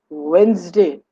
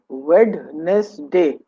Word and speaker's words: Wednesday: It's Wednesday and not Wednesday, as the spelling goes. The D is silent.